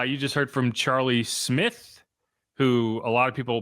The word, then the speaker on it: Smyth: It's But you're pronouncing it like an I. Just pretend it's not even there.